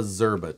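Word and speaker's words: Szczerba: called this is the it's called a zerba tool and it's spelled get ready write this down get your phone out get the text started s z c z e r b a zerba tool and this is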